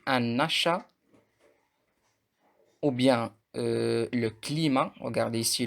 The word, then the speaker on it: climat: achat, ou bien le climat. Regardez ici, le T ne se prononce pas.